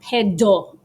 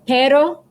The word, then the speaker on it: pero: word so example pero notice it sounds kind of like a d but it's not pedo that's a different word kind of funny not going to say what that means right now but you can look it up it's funny okay so pero with us quick tap of the roof of your mouth with your tongue also it's not senora